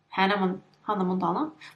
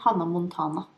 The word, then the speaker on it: Hannah Montana: That's not how you pronounce her name. Hannah Montana. We would say Hannah Montana in Norwegian, but that's Hannah Montana.